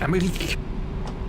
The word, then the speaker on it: Emmerich: That's how you say it in German language, Emmerich.